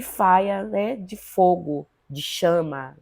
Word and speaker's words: Fyah: é uma delas e o Faia então com essa pronúncia é F ah né o Faia tem uma pronúncia inglês de de influência da língua inglesa né do Caribe deve ser